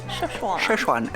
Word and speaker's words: Chefchaouen: Chefchaouen. It sounds like Szechuan, but it's Chefchaouen. Or just Chaouen, if you want to say it like the locals would.